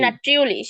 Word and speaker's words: natürlich: নাট্রিউলিশ, হ্যাঁ নাট্রিউ, ইউ উচ্চারণ হবে নাট্রিউলিশ।